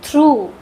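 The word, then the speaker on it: through: For example इसको पढ़ते हैं थ्रू। जी एच का उच्चारण नहीं हो रहा है। घ का उच्चारण यहां कहीं नहीं हो रहा है। थ्रू पढ़ते हैं इसको।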